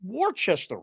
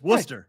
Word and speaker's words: Worcester: is that guy saying it don't look like it's warchester rightchester right but it's Worcester okay so don't tell me